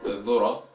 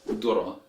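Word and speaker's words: ذرة: Now when it comes to Egyptian Arabic dialect, this word is pronounced as dura, dura with the Dal or D sound, and so on with the examples.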